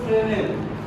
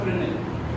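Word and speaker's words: Fresnel: এখানে দেখো বিজ্ঞানীর নাম হলো ফ্রেনেল, আর স্পেলিং এ দেওয়া আছে এস। এই এসটা উচ্চারণ হবে না, না করা যাবে না।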